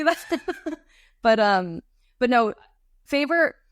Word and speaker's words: FAVR: That's the common acronym out there is favr, FAVR, correct? You got it. FAVR. Okay. That's the most common acronym. Okay. So yeah. I'm glad you pronounced it as favor instead of fav or favra, or, for all you Packer fans out there.